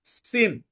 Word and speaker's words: सीनी: यह है इसके बाद सिन अपन ने अभी पढ़ा था ना किसका नाम पढ़ा था सीनी तो अंग्रेजी में उसको सिन लिखा है एस आईन लिखा है लेकिन हिंदी में अपन कहेंगे सीनी 17 पद देखिएगा 17